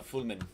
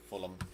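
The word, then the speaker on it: Fulmen: Oh no, Fulman, not Fulham.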